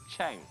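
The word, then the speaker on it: 橙: This is because the Chinese word for orange is chang, which is pronounced the same as the Chinese word for success.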